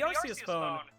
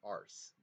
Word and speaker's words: Arceus: pronounced in battle revolution it makes sense that it's arceus not ours so i